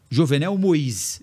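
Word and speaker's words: Jovenel Moïse: matar o presidente haitiano jovenel mois Esse é o nome correto pronúncia correto lá em Julho de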